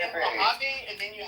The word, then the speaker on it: Mojave: I think actually in the um Mojave Desert they have the strongest and here well Mojave and then you said it right.